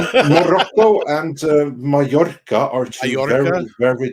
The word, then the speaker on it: Mallorca: Yeah, that's Mallorca? Is that how you say it? Mallorca, yeah.